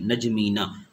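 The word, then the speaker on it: N'Djamena: Abuja और chart का capital हमारे पास है नजमीना सर क्या है नजमीना प्रोनाउंस कर ले नजमीना उसके बाद हमारे पास सर जो कार आ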